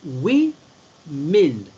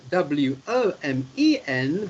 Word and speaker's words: women: the women so it's we mind women it's written w-o-m-e-n but it's pronounced as though it's w-i-m-i-n we min that's how